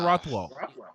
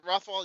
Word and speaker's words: Rothwell: Ben Rothwell. Rothwell. Yeah. Rothwell. Rothwell. Yeah. Yeah. Rothwell. Rothwell. Like Rockwell, but Rothwell.